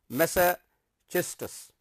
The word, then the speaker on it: Massachusetts: Frost attended high school in Lawrence, Massachusetts. This is its pronunciation is Massachusetts, and began writing poetry.